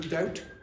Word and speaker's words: doubt: Now in French, does anyone know the French for to doubt? Duty. Duty. Okay. Now the French do not have a B. Okay. They don't pronounce it anyway.